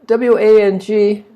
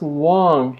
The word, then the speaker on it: Wang: The W A N G is pronounced Wong here, not Wang like Wang computers.